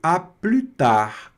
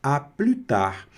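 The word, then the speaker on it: à plus tard: Nessa expressão aqui a gente não pronuncia o S.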